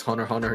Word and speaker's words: Hunter x Hunter: yes is uh yeah you don't pronounce the X's the the Japanese just do that for fun I guess oh yeah but yeah uh no one really hates Hunter Hunter either um go [